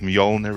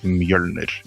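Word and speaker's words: Mjölnir: The proper pronunciation is Mjolnir. That's how you say it. Mystery solved. I'm only going to embarrass myself if I try. Don't. Mjolnir is fine for Americans, but the proper way of saying it is Mjolnir.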